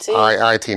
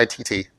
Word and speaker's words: IIT: Am I saying it right? IIT? Yes, IIT, not ITT.